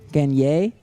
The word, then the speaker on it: Gagne: Gagne? That's how you pronounce it in French.